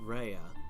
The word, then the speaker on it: Rhea: is pronounced reading it they pronounce it reya but it's not spelled reya it's spelled rhea but you know whatever